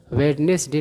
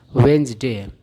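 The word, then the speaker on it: Wednesday: बात की जाए तो इसको वेडनेसडे नहीं पढ़ते हैं इसको पढ़ते हैं वेनसडे ठीक है आगे बढ़ते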